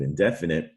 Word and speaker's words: indefinite: of the open syllable the stress and the open syllable phi knight but indefinite the stress is on the first syllable def def in it and just kind of